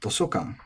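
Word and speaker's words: 図書館: And here we get to Toshokan, which is another nakadaka noun.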